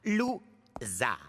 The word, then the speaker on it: Loser: Mon nom se prononce. Lou-.